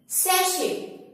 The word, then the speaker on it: sachet: SACHET, सैशे।